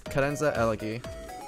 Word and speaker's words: Karenza Elegy: use old reddit um how do you pronounce my name my name is karenza elegy it's actually like a mishmash of um two musical terms you're free to look